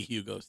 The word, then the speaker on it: Hugo: It would be Hugo's team. Yeah. Well, I mean, I think, see, the thing. Hugo, Greg, the H is silent.